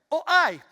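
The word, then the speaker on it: οὐαί: Así se pronuncia, o hay, que significa cuidado, advertencia, bandera roja.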